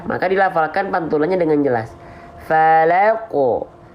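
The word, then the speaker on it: فلق: Falaqo. Falaqo, falaqo, gitu ya. Jangan sampai falak, falak, falak. Nah, gitu ya. Harus ada pantulannya. Sekarang, kesalahan yang sering kali terjadi ya ketika kita melafalkan pantulan pada huruf qaf.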